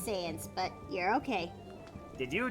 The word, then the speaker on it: Sans: I really need to do I need to actually watch a video on the species analysis of scions. Sans. It's kind of pronounced as Sans, but you're okay.